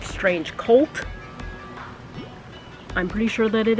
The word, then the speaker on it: Strange Cvlt: know you see kids it's spelled like this but I'm 98% sure that it is pronounced strange cult I'm pretty sure that